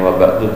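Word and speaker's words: وبعد: Domir hu-nya dibuang sebagai bukti pernah ada domir hu, huruf dalnya yang tadinya fathah dibaca dhammah wa ba'du.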